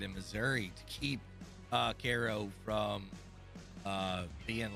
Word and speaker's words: Cairo: how' you say it KO okay I always called it Cairo like Egypt yeah it's depends on